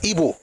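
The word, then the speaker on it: Igbo: The best I can do is to pronounce it correctly, which is Ebo.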